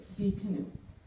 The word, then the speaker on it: Tsidkenu: So if you see canoe with an emphasis on the C, that's how you pronounce it, Tsidkenu.